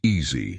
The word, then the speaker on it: ASI: accessible science instrumentation initiative or ASI pronounced easy as Dr. Chen emphasized repeatedly.